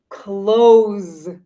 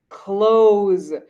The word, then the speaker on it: clothes: like d cleaned cleaned the word clothes has a z sound close close so you see an s but the sound in english is similar to a z close so then